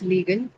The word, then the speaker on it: legal: kind of word is this legal? The First name. one, that's Oh, right. This is an adjective. Legal is an adjective. yes. It's a disyllabic adjective and it's marked on the first syllable.